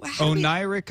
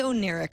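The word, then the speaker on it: Oneiric: was going to say oh neric so i'm glad that you knew that i was going to say it wrong so you would help me oh nyric ocelot it is available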